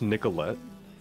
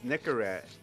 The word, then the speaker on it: Nicorette: I'm drinking my Coca-Cola oh it's pronounced Nicolette oh Nicolette sorry like the like the Nicolette gun oh no it's Nicorette oh my bad yeah